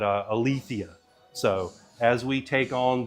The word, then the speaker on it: Aletheia: And we confirmed after talking about this, it is Aletheia. So I guess I'd been saying it correctly for a little while, but Aletheia.